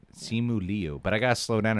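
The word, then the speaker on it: Simu Liu: make my life easier is how you say it simuli but i gotta slow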